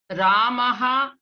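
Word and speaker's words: रामः: So in place of Visarga, you are going to pronounce half Hakara, like H, Ha. That means you are going to exhale, aspirated one. So that is Ramaha.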